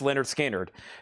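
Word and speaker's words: Lynyrd Skynyrd: Over here, we have Leonard Skinner, pronounced Leonard Skinner.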